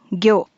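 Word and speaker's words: ぎょ: Onyomi is gyo. Gold kanji kin with fish kanji gyo makes the word kingyo, which means goldfish.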